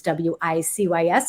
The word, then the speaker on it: WiCyS: It's WiCYS, and we pronounce it WiCyS like we sisters, because that's exactly what we are.